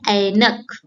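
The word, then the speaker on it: ऐनक: Here the mouth opens wide like bat. And an example is spectacles called ainak.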